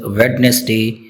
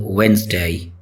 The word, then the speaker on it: Wednesday: A lot of people mispronounce it as Wednesday, but its correct pronunciation is Wednesday.